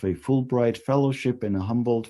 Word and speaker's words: Humboldt: He is the recipient of a Fulbright Fellowship and a Humboldt Fellowship, Humboldt Fellowship, right, if you pronounce it in German.